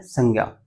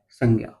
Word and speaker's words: संज्ञा: संज्ञा, जय, संज्ञा। संज्ञा सुना है नाम कभी? जैसे से, ये अनुस्वार है, इसके ऊपर आपको अनुस्वार दिख रहा होगा। संग, नाक से आवाज आ रही है अनुस्वार से।